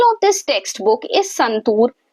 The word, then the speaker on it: Santoor: अब आपको वह बता रहा है that when when you speak संतूर then tour यह जो डबल ओ है उसका